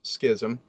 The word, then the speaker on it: schism: know there was the great schism people it's pronounced schism but uh the east-west split right before then